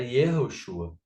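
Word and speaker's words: יהושע: A gente sabe que no, no período de Yeshua, não é? Era Yerro, eh, a pronúncia era Yerroshua, não é? O nome completo, não é? Dentro do hebraico.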